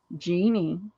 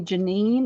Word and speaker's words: Genie: she would like 1a1b1c a lot of people would want to call me janine or jean and it's like look at how it's spelled genie all right so we